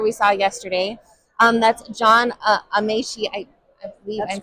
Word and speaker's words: Amaechi: That's John Amaechi. I believe I'm pronouncing that correct.